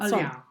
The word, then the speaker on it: Olhão: But Olhão.